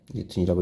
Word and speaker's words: 뉴턴: 자, 뉴턴이라고 읽어야 되죠.